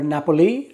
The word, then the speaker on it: Napoli: Hey guys, today we're going to be talking about Naples, or Napoli, I believe is how they pronounce it there locally.